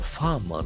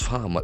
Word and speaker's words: farmer: The middle R is silent. Farmer. Farmer. There are two syllables. An accent falls in the first syllable.